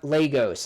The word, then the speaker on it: Lagos: don't know what oligo a log Lagos is how you pronounce it and then you